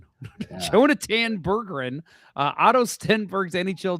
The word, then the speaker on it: Jonatan: Jonath Jonatan. Jonatan Burgerin.